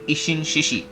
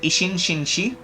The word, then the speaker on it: Ishin Shishi: agent you get is the ishin shishi not isin shinshi okay Mr smart donkey says it as isin shinshi don't blame him for the pronunciation that's uh that's their interest but it's isin shishi okay isin shishi not isin shinshi people make that mistake not not for serious